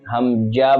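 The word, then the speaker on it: همزة: হামজা যেহেতু শেষে হা আছে তাহলে আমরা হামজা উচ্চারণের সময় হা এর উচ্চারণটাও ক্লিয়ারলি আমাদেরকে স্পষ্ট করতে হবে হামজা হামজা হামজা জবর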